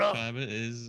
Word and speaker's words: Windschutzscheibe: Windschutzscheibe is how you say it, yes. It, How you it say what? is, No, but this like word, older, it's older. Windschutzscheibe.